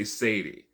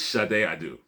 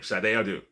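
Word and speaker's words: Sade Adu: They didn't want anybody to say Satie. So they they put in their shard to make sure people say Shade, but it's Shade Adu. That's her name. That's how she pronounces her name. Shade Adu, not Charardet.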